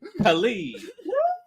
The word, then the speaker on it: Kali: We have Kali. Did I pronounce that right?